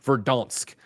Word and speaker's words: Verdansk: Warzone, the correct pronunciation according to Snowbike Mike is Verdansk.